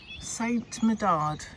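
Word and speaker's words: Saint-Médard: Saint Medard, that's how you say it, the patron saint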